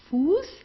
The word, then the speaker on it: Fuß: Okay, very very short. It's not Fuß, it's not draußen, it's not grüßen. Okay, it's Fuß, draußen und grüßen. Okay. Good, so it's just pronounced like an S.